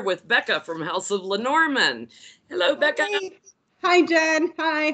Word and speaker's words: Lenormand: house of Lenormand or say say it the right way because I always say it wrong look house of manor mind or Lenormand LP and oh are ma